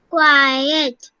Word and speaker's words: quiet: Okay, Yagita, can you pronounce for me once? Quiet. Quiet.